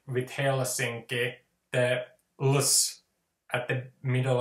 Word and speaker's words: Helsinki: So that the way to say Helsinki in rhythm is to say Helsinki. You know, the Finnish language, we just very remarkably don't really we just don't like variations, so that we will keep this rhythm.